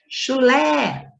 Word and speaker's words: chulé: Chulé, a sílaba tônica é o lé.